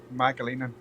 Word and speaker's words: McAleenan: Did I pronounce your name right? Mcaleenan.